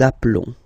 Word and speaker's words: appelons: Okay, final S doesn't exist. Nous nous appelons.